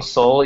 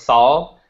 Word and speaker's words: Sol: It's funny, I've known you now for like 6 months, and you still pronounce my name Sol, even though it's Saul, like Solomon.